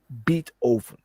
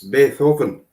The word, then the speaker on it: Beethoven: But there is this guy named Beat Oven. Yeah. And and and you're pronouncing it wrong, mate. Huh? You're pronouncing it wrong. It's Beethoven.